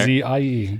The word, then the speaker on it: Aussie: with all rights, privileges, and duties appertaining thereto, including the right to use the term Aussie, pronounced Aussie. He wrote that down there. Ozzie.